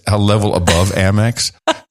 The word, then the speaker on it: Amex: say it amex mx i say most normal american people say amex amex it's cute baby you keep saying it it's like what is ama it's a level above amex like you think you're